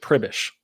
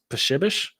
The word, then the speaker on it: Pribish: it's actually polish um you pronounce it pribish now the polish pronunciation of it i believe is pushibish but that would just be even more difficult to explain to people so we've always just said privish p-r-i-b-i-s-h is how you would spell it phonetically